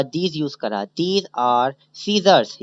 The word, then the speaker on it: scissor: अच्छा सीजर कहते हैं कैची को, अच्छा SCISSOR लिखा तो है स्कीजर, अगर आप सही से प्रोनाउंस करें तो स्कीजर पढ़ा जाएगा, लेकिन इसका सही प्रोनाउंस जो है वो सीजर पढ़ा जाता है, ठीक है। एस साइलेंट होता है, साइलेंट उसे कहते हैं